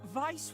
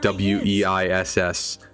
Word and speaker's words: Weiss: there a character in Ruby called Vice hey Vice was just some old Legend I know it's spelled we I SS but it's pronounced Vice and so I will